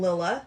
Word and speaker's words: Lilla: You do go up a little bit in the middle of it, but that's an inflection. Okay. On your syllables or whatever.